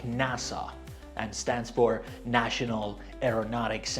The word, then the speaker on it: NASA: We pronounce them as one word. For example, NASA, we read it like NASA and stands for National Aeronautics and Space Administration.